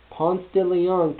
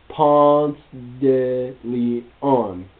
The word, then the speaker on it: Ponce de Leon: Ponce de Leon can only be pronounced like it is. Do not attempt the Spanish pronunciation.